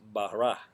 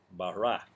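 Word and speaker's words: ברא: La palabra en el idioma hebreo es bará, bará. Se escribe B-A-R-A, con acento, si es que la podríamos traducir al español.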